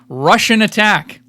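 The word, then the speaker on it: Rush'n Attack: Russian Attack. Spell it out. It's Rush, like the band, 'N, Attack.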